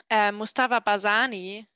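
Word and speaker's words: Mustafa Barzani: or he is a big fellow of um mustafa bazani did i pronounce it right yes he worked closely with general barzani during the september revolution from 1961 to 1975.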